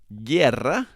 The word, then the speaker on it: guerra: some examples of those guerra which means war okay now the u is silent it's not guerra but